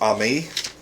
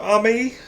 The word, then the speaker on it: Amy: Okay, first off, the girl's name is spelled Amy, but I guess her name is Ami.